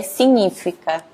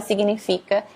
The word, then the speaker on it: significa: pronúncia correta que é signífica porque a palavra é bem parecida é a mesma aliás mesma palavra aqui português então tem que tomar cuidado aqui para não falar significa e falar signífica porque o g e